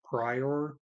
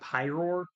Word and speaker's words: Pyroar: cut pyroar um just that's why I commonly mispronounce it prior is because prior um p-r-y-o-r I know it's pyroar because pyro it's a fire type Pokemon and then the roar because it's supposed to be lion base design so but yeah that's